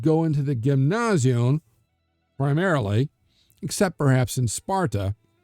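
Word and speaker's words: γυμνάσιον: Most athletic practice and this choral line dancing was done at a Gymnasion. Yes, we would say the gymnasium, but it would have been pronounced Gymnasion, literally the naked place.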